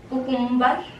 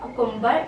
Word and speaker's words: cucumber: Cucumber. This is not cucumber. It will be cucumber.